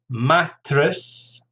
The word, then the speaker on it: mattress: Mattress, 2 syllables, stress on the first, mattress.